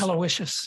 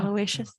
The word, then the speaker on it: Aloysius: Aloysius. Yeah. Aloysius.